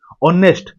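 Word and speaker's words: honest: नहीं तेणु ए रु अ रु आपंकर ए उच्चारण होची सेतपई आप आराम से बसई पारिबे एन अम्ब्रेला ऑनेस्ट एच रु तो स्टार्ट होची कॉन्सोनेंट वार्डिंग रु स्टार्ट होची किंतु आप उच्चारण कौन करछन्ती ऑनेस्ट बोली कहते हनेस्ट कहते कि हनेस्ट तो कहना ना ह एच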